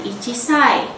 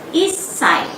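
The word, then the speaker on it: 一歳: untuk menyebutkan usia 1 tahun tidak menjadi ichisai, melainkan issai.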